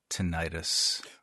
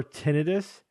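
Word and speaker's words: tinnitus: if it's okay to pronounce it tenius as well as I mean I think technically both are Okay the reason why I prefer tenus is because tenius sounds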